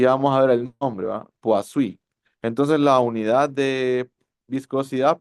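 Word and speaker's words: Poiseuille: cómo se pronuncia y me han dicho la mayoría que que que le he preguntado, pues ha habido variantes ahí, pero la mayoría me dice puas. Poasuí. Vamos a ver el nombre. Puasí.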